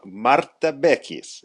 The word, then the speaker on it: Marta Bechis: it works in Italy anyways today we have Mara beis is that correct did I say that right perfect Mara beis perfect pronunciation yes I know I've been working on